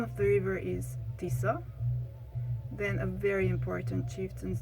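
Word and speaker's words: Tisza: burchu again the name of the river is tisa then a very important chieftain's name is kopang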